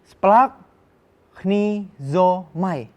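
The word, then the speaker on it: σπλαγχνίζομαι: Splagchnizomai. Coba sama-sama ya. Sama-sama kita bacain berulang kali supaya adik-adik hafal.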